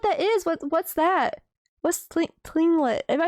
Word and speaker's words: Tlingit: It's pronounced Tlingit.